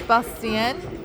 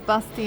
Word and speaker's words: Bastian: So in Slovakia, people pronounce the words the way they're written. Yeah. Okay, so if it's written with E, they pronounce it as Bastien. If it's written with A, they pronounce it as Bastian.